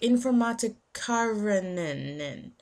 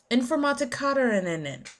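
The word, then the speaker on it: Informatikerinnen: Like informatikarinen. It's I N F O R M A T I K E R I N N E N. That is how you spell that word. Informatikarinen.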